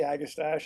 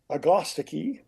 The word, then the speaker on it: Agastache: and I said I we say agastache it's just easier uh if you really want to sound like you know what you're talking about you pronounce it like the British atii and atii is a lovely plant but but the